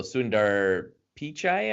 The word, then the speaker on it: Sundar Pichai: CEO of Google so sundar Pichai I believe it's how you pronounce his name you guys can correct me but anyways he got